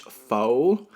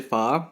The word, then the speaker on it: pho: And although it looks like it's pronounced pho, it's actually pho.